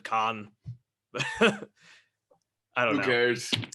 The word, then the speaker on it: Can: Yeah, like I started listening to King Crimson, Can, or I've also heard them pronounced Con. I don't know if you're into krautrock, but I would trust the Germans would probably pronounce it Con.